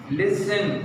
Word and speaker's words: listen: Listen, L-I-S-T-E-N. T is silent.